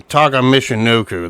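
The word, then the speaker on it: Taka Michinoku: he was taking on the light heavyweight champion Taka Mishino. That's how you freaking pronounce the name.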